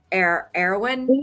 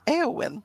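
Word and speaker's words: Éowyn: Eowyn. It's Eowyn. Okay. I'll get it. It's like saying all the vowels, like Eowyn. I like it. If you watched Lord of the Rings, you'll know it's Eowyn.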